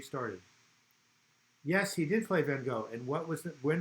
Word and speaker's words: Van Gogh: Vincent Van Gogh, or it's Van Gogh, is how, if you ever seen Woody Allen's Manhattan, that's how you pronounce it.